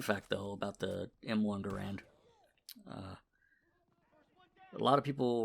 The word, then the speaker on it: Garand: When it went into service, it was called the Garand, even though the guy who invented it was John Garand. Once it went into service, it was more or less repronounced as Garand.